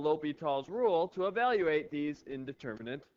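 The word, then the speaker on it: L'Hôpital: today's video we'll look at indeterminate forms and l'hopital's Rule that's how that is pronounced l'hopital's rule what an indeterminate form is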